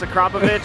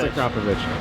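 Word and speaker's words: Akrapovič: meet with those guys and they say it's a covich you just say okay it's a cop it's a covich on note of pronunciation how do you say the word g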